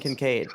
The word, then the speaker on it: Kincaid: Is that how you pronounce it, Kincaid? Dalton Yes. Kincaid.